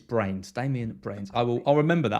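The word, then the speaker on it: Bruyns: It's Brains. You pronounce it Brains. Damien Brains. Can you remind me if I ever say Bruns like he's some kind of Scottish, like, I don't know, guy up in the...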